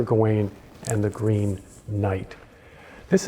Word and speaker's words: Gawain: the Fantastic medieval poem sir gawaine or sir Gowen depending I pronounce it sir going and the Green Knight